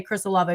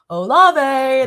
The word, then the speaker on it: Olave: When I was on the Football Fever in Columbus, we wouldn't say Chris Olave. We'd go Olave. That's how we would pronounce it, because he was always just so smooth.